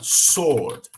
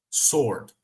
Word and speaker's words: sword: solicitação answer lembrando pessoal aqui não é answer apesar de ter um w aqui tá é tipo a palavra Sword Sword tá então esse w não será realmente pronunciado como será na verdade nessas duas palavrinhas w será quase que ignorado answer Sword tá vamos